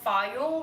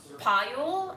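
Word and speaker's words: Phayul: New York City called Fayul, which I learned I've been mispronouncing for half a decade, is apparently actually pronounced Payul and the H is silent.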